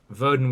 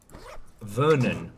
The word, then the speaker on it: Vernon: You know, Verdon worked real hard. Vernon, not Verdant.